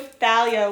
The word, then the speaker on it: Thalia: Rick said it was Thalia with the TH sound. I don't pronounce it like that.